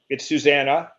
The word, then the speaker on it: Susanna: And just so you know, it's Susanna. The E is pronounced like an A. It's for Susanna.